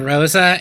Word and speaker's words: Rosa: I think that, like, it's probably worth saying that the way you pronounce the name Rosa and the way you pronounce the word rose in Japanese are identical.